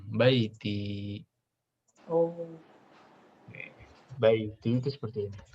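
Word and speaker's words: بيتي: Kalau bacanya mirip ya, fil baiti. Tapi kalau baiti rumah saya itu pakai iya panjang, baiti.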